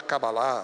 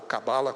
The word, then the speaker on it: Cabalá: Vocês sabem, há uma linha judaica extremamente mística, né, que inclusive que terminou gerando a chamada Cabalá, ou Cabala, como se fala muito abrasileiradamente, que é essa questão meio mística do judaísmo e dos seus simbolismos.